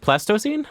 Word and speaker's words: Pleistocene: Can anybody pronounce this? Pelocene something? Wolf? Pleistocene?